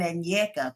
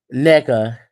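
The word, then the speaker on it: Nneka: the whole Wendy and Ina thing however you say her name NECA it's not Ina no it's NECA oh they need to take out one of them damn ends oh my God girl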